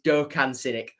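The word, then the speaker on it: Doğukan Sinik: I have been told, by the way, that it's Dokan Sinik. So don't worry, I'm not just missing out letters. It is pronounced in Turkey, Dokan Sinik. So, you know, when I'm talking about teams or whatever in the preview, I will say Dokan Sinik because that is correct.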